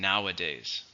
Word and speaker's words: nowadays: past it's an adverb how many syllables in nowadays three stress on the first one here's the IPA here's